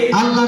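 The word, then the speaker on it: الله: আল্লাহ শব্দের ডাইনে, জবর অথবা পেশ থাকিলে, কি করিয়া পড়িতে হয়, পুর মানি মোটা, বারিক মানি পাতলা। সবাই পুর করে উচ্চারণ করেন আল্লাহু আকবার।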